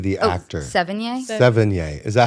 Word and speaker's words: Sevigny: Chloe Savinity, the actor. Sevigny? Sevigny.